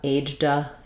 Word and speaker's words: aged: Then later, if you have to just say aged, you might be more comfortable with the j, d combination. Aged a lot, aged, aged 4, aged 8, aged 8.